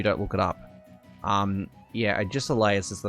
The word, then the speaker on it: Agesilaus: It's Agesilaus. It's pronounced Agisilaus. It's very difficult to pronounce if you don't actually know the spelling of, or if you don't look it up. Yeah, Agisilaus is the name.